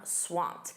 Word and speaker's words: swamped: Notice that pronunciation, that ED is a soft T. I'm swamped.